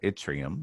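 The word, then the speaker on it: Yttrium: have here is we have an element called atrium that's how it's pronounced the symbol is y and this is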